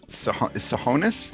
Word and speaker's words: Tsohonis: grand wizard himself sahonis is it pronounced yeah yeah okay so it's perfect it's a silent t that's the only trick that's my mc name